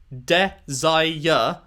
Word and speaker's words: desire: But then cloaked desire watches is 6. I guess she's saying desire. She's... That's not how you say desire. You say desire is 3 syllables. Desire.